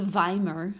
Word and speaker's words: Weimar: an election so the vomer of course it looks like a w but is pronounced the Weimar the very